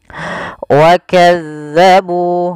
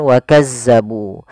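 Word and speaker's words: وَكَذَّبُوا: Wakadzabu. Ah, tekankan ini pada dal, bukan wakazabu. Jangan biarkan kita membacanya dengan sembarangan. Jangan sampai kita membacanya sebagai wakazzabu dengan huruf zai.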